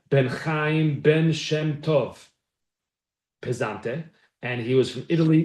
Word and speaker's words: Pesante: But in the Encyclopedia Judaica, it's P-E-S-A-N-T-E. Pesante. He was, as you could guess, Italian. Moshe ben Chaim ben Shem Tov. Pesante.